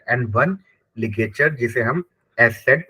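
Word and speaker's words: Eszett: य उम lout and one ligature जिसे हम एस सेड प्रोनाउंस करते हैं ठीक है सम लेटर आ प्रोनाउंस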